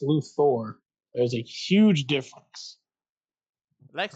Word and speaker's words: Luthor: Look, I chose Lex Luthther. I went a little bit easy. I didn't want to choose King. Remember, it's pronounced Lu Thor.